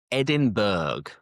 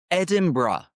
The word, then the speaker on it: Edinburgh: And the first one many people they say Edinburg Edinburg but that is incorrect. We never say Edinburg. The correct pronunciation think bruh is Edinburgh.